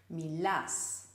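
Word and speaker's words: μιλάς: did you know that in the U form in the second person the stress is on the end syllable Milas rotas whereas the imperative gets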